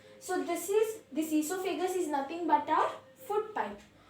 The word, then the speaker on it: esophagus: glands this is the mouth and this is esophagus that is our foot pipe see you will pronounce it wrong it is not oil so vegas but it is esophagus okay o is silent okay see this is